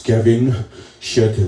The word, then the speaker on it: Gavin Chatelier: you pronounce it right I've been told it's Kevin shut up yeah right so if